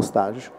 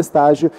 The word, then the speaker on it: stage: avete utilizzato durante lo stage allora una premessa linguistica come avrete sentito io parlo di stage parliamo di stage forum la pronuncia e alla francese note lo pronunciava all'inglese in realtà è sbagliato stage vuol dire un'altra